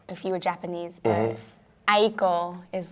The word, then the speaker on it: Aiko: cuz you know a was like a well that's like the American way to say it. It's a Japanese name so you would say eekiko if you were Japanese but Aayeko is like how I